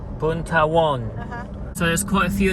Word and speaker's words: Boonthavorn: Boonthavorn. Boonthavorn. Boonthavorn.